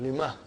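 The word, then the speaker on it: لِمَهْ: So ha will come as a silent, lima. You are not pronouncing it because there is a sukoon on it.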